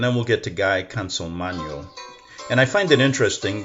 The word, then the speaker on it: Consolmagno: That's because they haven't lived in Italy. It's Consolmagno. Okay? Consolmagno.